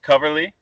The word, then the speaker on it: Coverly: So Dave Coverly, did I say it right?